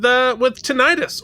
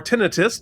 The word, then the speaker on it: tinnitus: All right, so a lot of this episode deals with tinnitus or tinnitus, depending on how you pronounce it, and which, to be